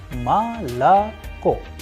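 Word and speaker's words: молоко: also known as milk, is pronounced as malako because O is not under stress, is going to turn into a sound of A. Please pay attention to the structure of the word malako. I am pronouncing as if the word malako has two A and at the end it has O. Malako. It is because the stress or the udarenie is falling onto the last O, and that is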